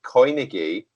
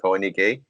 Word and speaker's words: Coinigy: go on YouTube and type in Koinigi and go on the playlist Bitcoin trading. Koinigi is spelled coin IGY, so COINIGY Koinigi, and Bitcoin trading playlist.